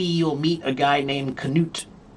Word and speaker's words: Knut: or Norway, maybe you'll meet a guy named Canoot. Canut Knut. They still pronounce it with the knoot.